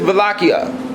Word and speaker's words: Wallachia: The Ottoman Turkish Empire was at war with Wallachia. In European languages, W's are pronounced with a V sound.